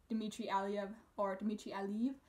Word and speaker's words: Dmitry Aliyev: And then Dmitry Aliyev, as I've learned that you're supposed to pronounce his name, he gets third, like I predicted, I believe, although my podium was a little different.